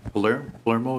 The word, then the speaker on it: Palermo: And Palermo, is that how it's pronounced? Yes.